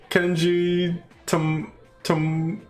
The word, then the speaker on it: Tomochika: By the way, I'm Kenji Tomochika.